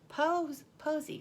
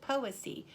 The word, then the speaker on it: Poesy: Posy, or is it Poesy? Poesy. Somebody should help me with that pronunciation, because it is a Posey, Posy, but it's poesy. I think it has something to do with poetry. I don't know, because I don't think about stuff like that.